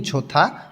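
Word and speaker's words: 좋다: খিবনি মন ছোথা ভালো হিউত বাচ্চিমের পরে এখানে দখানে দ টা থ উচ্চারণ হবে তাহলে খিবনি ঝোথা মন ভালো খিপ্পুদা খুশিফুদা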